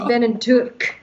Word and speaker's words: Beinn an Tuirc: I think that's lovely pronunciation, Beinn and, that's how my Welsh dad says it actually, Beinn and Tuirc.